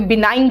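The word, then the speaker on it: benign: रहा है है ना बिनाइन देखो जी साइलेंट यहां पे बिनाइन नहीं है इट्स बिनाइन है ना काइंड असाइन इसका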